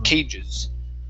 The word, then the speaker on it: cages: Make sure to pronounce that S there, cages.